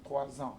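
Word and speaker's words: trois ans: Elle a 3 ans. Yeah, you make the liaison. 3 ans, yes.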